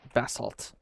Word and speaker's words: basalt: Bassalt. I always say it like a British person.